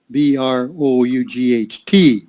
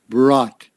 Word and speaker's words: brought: and then of course this word brought has got lots of silent letters in it uh b-r-o-u-g-h-t brought so it's simply like this brought okay brought yeah that's all very simple but so there's in that word there's one two there's three silent letters so i don't know